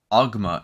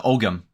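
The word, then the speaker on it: Ogham: So you squint and look, and it's a word, but it's not a word in Ogma, in the it's a Ogam.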